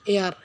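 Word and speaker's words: heir: তারপরে 21 number, the king, রাজা, left হারিয়েছে ড্যাশ এয়ার, এয়ার শব্দের অর্থ উত্তরাধিকারী, রাজা উত্তরাধিকারী হারিয়েছে। এয়ার শব্দটি এইস কনসোনান্ট দিয়ে শুরু হয়েছে, কিন্তু এর উচ্চারণ ভাওয়েলের মতো হয়েছে, তাই এখানে কনসোনান্ট থাকা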